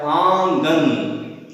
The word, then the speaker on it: आंगन: आंगन, यानी जब हम मुंह से इस शब्द को बोलते हैं तो हमें नाक से भी वायु हमें निकालनी होती है, या इसका उच्चारण नाक से ही संयुक्त रूप से, मुंह और नाक दोनों के संयुक्त अभ्यास से ही इसका उच्चारण किया जा सकता है।